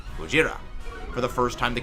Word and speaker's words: Gojira: he's about Japanese himself, he is going to say the original Japanese pronunciation of the name, Gojira, for the first time the character's name is mentioned in the movie.